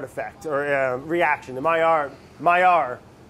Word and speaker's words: Maillard: It's that, how do you pronounce it? The Maillard effect, or reaction. The Maillard.